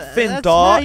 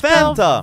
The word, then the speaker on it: Fanta: It's not Finta, it's Fanta.